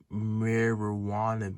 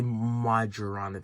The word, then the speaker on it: Majorana: There are other bases like the marijuana basis. I call it the marijuana basis. It's not pronounced that way, but I always my brain always slips up. It's like the Majorana basis.